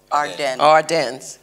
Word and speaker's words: Ardennes: Ardennes mm-hmm.